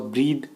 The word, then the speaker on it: breathe: अगला जो वर्ड है फ्रेंड्स वो है ब्रेथ और ब्रीद। जब BREATH की स्पेलिंग में हम एक एक्स्ट्रा ई जोड़ देते हैं तो ये ब्रीद हो जाता है।